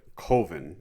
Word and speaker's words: Coven: film is titled colvin it's a bit of a running joke even in the movie how people lapse on the like the 99 percentile pronunciation of coven but coven and the if you listen to the commentary uh for the film the one of the documentarians uh i believe chris uh comments that they did some research into this and coven is a valid pronunciation it's just a lesser-known pronunciation hey you learn something